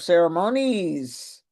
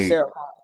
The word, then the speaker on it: ceremonies: So, I was the mistress of ceremonies, not ceremon.